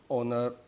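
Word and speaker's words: honour: और यहाँ पे एच साइलेंट होता है, एन R, hair, ऑनर, honest, ऑनरेरी, ऑनरेबल।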